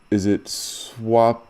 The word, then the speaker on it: Swapnil: Is it Swapnil Yes? you are right. Bang on. First time, it's Swapnil.